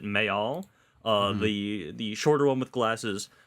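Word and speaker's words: Mejal: And something that she said was that what she was writing in the part where I believe it's the character, you pronounce it Mayal, the shorter one with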